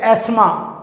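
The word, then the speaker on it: asthma: है डेमेक जॉइंट होती है इसको कहते हैं आसमा ए एस टी हा एम ए शमा और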